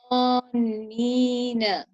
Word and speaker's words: ظانين: غثاء, and then كذبا with a smile, and ظانين, you create a heavier sound with a rounder mouth.